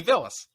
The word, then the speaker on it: Bilas: Yeah, Bilas. There we go. Dude, it's kind of funny. Richard's like the worst with pronunciation. You know what? I don't even try. It's an easy one too. It's Jay Bilas.